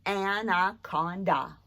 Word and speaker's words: anaconda: okay and let's see anna conda four syllables and i'll try to make it fit on here today and ah is that schwa sound of a anna on da